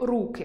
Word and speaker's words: руки: У цьому реченні слово «руки» стоїть у називному відмінку й має наголос на «у». Так само звучить і знахідний: Під час епідемії потрібно обробляти руки (З.в.) антисептиком. А от у родовому наголос падає на «и»: Я не бачу жодної руки (Р.в.).